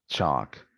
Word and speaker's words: chalk: Chalk, salmon, calm, with a silent L.